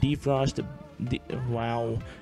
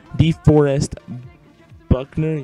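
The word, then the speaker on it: DeForest Buckner: that's how i'm doing this 75 defensive end defrost the while deforest buckman yep that's how you say it boy that's I'm suck at pronouncing names right and 77 fullback Jay prosch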